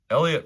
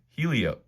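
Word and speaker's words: Heliot: Soto, Elliot Ramos. When before he became a big leaguer, I thought his name was Helio, but the H is silent.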